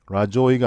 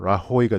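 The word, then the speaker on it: Rajoy: 스페니쉬에서는 이 J가 H로 소리가 나기 때문에 라조이가 아니라 라호이가 되겠죠. 마리아노 라호이, the prime minister, 여기까지 주어죠.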